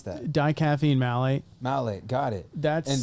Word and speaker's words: dicaffeine malate: How do you pronounce that? Dicaffeine malate.